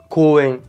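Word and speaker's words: こうえん: Alors par exemple, le mot parc s'écrit ko-u-e-n, mais se lit koen, koen.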